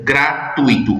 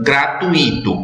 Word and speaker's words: gratuito: o show é gratuito a palavra se pronuncia gratuito e nunca gratuito portanto nós não a